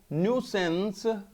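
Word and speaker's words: nuisance: और न्यूसेंस, इसकी प्रोनाउंसिएशन जो आपने करनी है वो न्यूसेंस, न्यू जो वर्ड न्यू होता है ना उसके आगे आपने सेंस लगा देना, सेंस, सेंस, सेंस जो एहसास होता है, सेंस, न्यूसेंस, न्यूसेंस।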